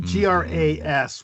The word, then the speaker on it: gras: It would be GRAS, would be pronounced gras, which is fat.